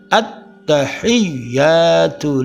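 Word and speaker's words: التحيات: Pada lafal at-tahiyyatu lillah dibacanya at-tahiyyatu lillah. Terdapat 3 huruf yang bertasydid, yaitu huruf ta, at-ta. Kemudian ya, at-tahiyya, hiyya. Itu udah bertasydid. dan huruf lam jalalah lafal Allah lillah. Jadi bacanya at-tahiyyatu lillah.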